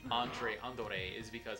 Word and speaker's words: Andore: Oh, BTW, the reason that they call Andre Andore is because Andore is how a Japanese person would say Andre if they were using katakana to pronounce the name.